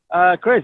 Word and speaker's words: Kryz: I said, oh, Kryz. Okay. Now, and Google told me Kryz. I said, okay. Is that pronouncing it right? Oh, Google told you really? Oh, cool. Kryz, yeah.